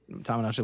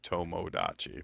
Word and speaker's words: Tomodachi: It's spelled tommo. T O M O. Okay. So, it would be more like tomodachi probably, but Tomodachi life.